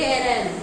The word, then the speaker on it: arraign: जैसे साइन में SIGN होता है और जीएन साइन में जो जी है वो साइलेंट होता है। लगेज में देखिए नॉलेज में DG पढ़ते हैं तो D साइलेंट होता है, वैसे एरेन तो ARRAIGN एरेन होता है।